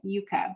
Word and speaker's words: yucca: the yuca comes from that's why i say yucca and i traveled in south america and i got a fond of the way of pronouncing the word yuka but uh most people here say yucca and so this is